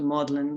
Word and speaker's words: Magdalene: at modeling college so modeling you know spelt magdalen we pronounce it in this weird way and we have a